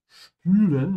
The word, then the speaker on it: spülen: Spülen, notice how I'm pronouncing the S, because it comes before it is pronounced like sh.